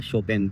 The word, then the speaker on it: Chopin: हम चोपिना, लेकिन यहाँ पर बोला जाता है शोपेन। तो पोलैंड में जो भाषा है वो पॉलिश बोली जाती है और पॉलिश की प्रोनाउंसिएशन थोड़ी सी अलग मिलेगी।